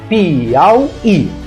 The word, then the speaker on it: Piauí: Então veja só, Piauí, Piauí. A sílaba tônica é esta, a palavra é oxítona.